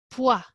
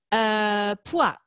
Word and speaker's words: poids: premier ministère nous l'avancé le mot poids et vous avez bien vu le d et le s final ne se prononcent pas beaucoup de consoles finale en français poids le deuxième au mystère